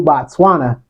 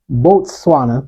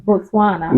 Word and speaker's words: Botswana: And to our brand new Botswana, I said it wrong again. Let me Botswana. Botswana.